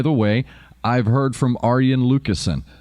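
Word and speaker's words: Arjen Lucassen: way i've heard from aryan lucasian that is how you say his name aryan i've had seven literally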